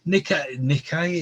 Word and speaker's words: Nike: this of the information nikkei is how you pronounce it nike nike ah you see